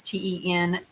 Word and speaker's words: Tenaya: Murphy Creek trailhead at, it's either Tenaya Lake or Tenaya Lake. It's Tenaya Lake at 9 a.m.